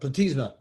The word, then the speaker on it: platysma: Yep, platysma. Perfect. Platysma muscle. You're not graded on pronunciations.